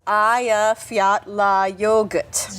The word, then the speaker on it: Eyjafjallajökull: Eyjafjallajökull. Just think of, "Hey, you forgot your yogurt."